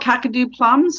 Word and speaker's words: Kakadu plum: lillypilly yeah and then cacao plums i'm not pronouncing that right yeah what kind of plum it's called kakadu plums so kakadu plum is i do have a